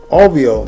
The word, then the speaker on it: Auvio: Hello folks, and welcome to my personal review of the Auvio, that's how it's pronounced, AUVIO, Bluetooth portable speaker.